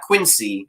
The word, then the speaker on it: Quincy: point out, is, yes, pronounced Quincy with a Z, like zipper or zoo. Not Quincy, it's Quincy.